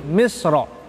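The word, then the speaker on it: مصر: Contohnya ini yakni misro, mim misro, bacaan misro ketika di akhir kata, ya, bacanya bagaimana? Misr, bisa tebal, bisa tipis, misr, ya.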